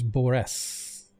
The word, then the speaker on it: Boris: That's actually Boris, Boress, if you need to know the spelling, but he is Boris.